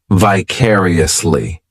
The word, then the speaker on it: vicariously: adverb which is vicariously this adverb has five syllables and the stress is on that second syllable vicariously the third syllable it's like that letter I just had has that e sound and the fourth syllable has the schah vicariously what this adverb